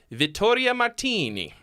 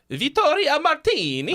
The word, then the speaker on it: Vittoria Martini: Anyway, so here's Wandering With Your Pill featuring Vittoria Martini. You said it wrong. Vittoria Martini. Oh, there you go. You got it. Yeah. You gotta say it like Mario.